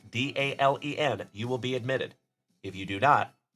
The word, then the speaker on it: Dalen: So again, folks, if you are new here, my name is Dalen. D A L E N, like Dale plus N.